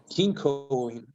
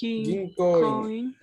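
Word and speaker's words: 銀行員: Kinkoin. Kinkoin. Ahora sí, ginkoin, con una O larga.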